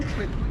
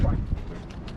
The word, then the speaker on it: Kweku: The name Kweku is a Ghanaian name, born on Wednesday, but the Kweku was corrupted into Kwak. Because British could not pronounce our names properly. So instead of Kweku, they said Kwak.